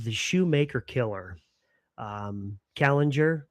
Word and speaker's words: Kallinger: Um Kallinger, right? Did I pronounce it right?